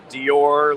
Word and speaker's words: DYOR: We've gotten everything from DYOR to Dior, like Christian Dior.